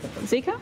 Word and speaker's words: Zika: Including the 2009 flu pandemic, Ebola, and do I pronounce it Zika? Zika, yep.